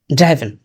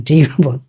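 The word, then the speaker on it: driven: আমি দুটো ভুল প্রায়ই করি, যেমন ইনভাইটেশন এবং ড্রাইভেন। এখন আমি জানি ইনভাইটেশনের উচ্চারণ ইনভিটেশন এবং ড্রাইভেন এর উচ্চারণ ড্রিভন, এটা জানি, তা সত্ত্বেও ভুল হয়।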